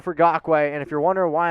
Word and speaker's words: Ngakoue: So if you're wondering why I'm saying it like that, it's because it's actually how you say it. So C for Crosby or N for Ngakoue.